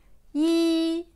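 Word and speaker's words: 一: Ensuite, yi.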